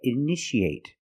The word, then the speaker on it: initiate: You see TIA. How do we pronounce it? That's right. Shh, shh. So how do we pronounce this word? That's right, initiate.